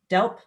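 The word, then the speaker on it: DELWP: water and planning and we call ourselves delp w is silent i'm not sure why but that's how it is and i work in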